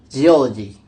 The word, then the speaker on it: geology: In the base form geo, the stress is not fixed, but when the suffix logy is added, the primary stress shifts to the syllable immediately preceding the suffix, resulting in geology.